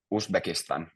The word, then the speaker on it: Uzbekistan: Uzbekistan. We also pronounce it like this.